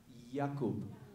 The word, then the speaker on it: Jakub: Jakub.